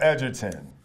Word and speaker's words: Edgerton: How tall is Joel Edgerton?